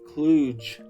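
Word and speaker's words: kludge: But what if the programmer the cluge to rhyme with stoogge?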